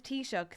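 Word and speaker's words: Taoiseach: you want to know how to pronounce t- shook think the drink tea and what you do to an oyster shook t- shook and what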